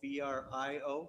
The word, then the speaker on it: Brio: They did a kind of a Latin pronunciation. The L's were silent. So now all they've done is just, they pronounce it the same and they remove the L's.